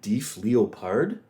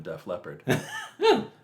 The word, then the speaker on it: Def Leppard: But it was, that was just me mispronouncing. No, I know, but I like Deef Leopard more than Def Leppard.